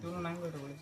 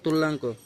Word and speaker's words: তুল্যাঙ্ক: তুল্যাঙ্ক হবে ঠিক আছে তুলনাঙ্কটা তুলনাঙ্ক না তুল্যাঙ্ক উচ্চারণটা হবে কি তুল্যাঙ্ক নেক্সট টাইট্রেশন কাকে বলে